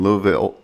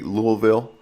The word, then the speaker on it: Louisville: Sharon is based in Louisville. Do I say it correctly? Louisville? That's one way to say it. We kind of say Louisville.